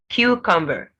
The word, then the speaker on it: cucumber: Cucumber. Cucumber. So coconut, cucumber, first syllable stressed in both.